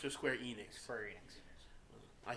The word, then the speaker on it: Square Enix: keep hearing about how do you say it Square Onyx or Square Enix Square Enix I say onx it used to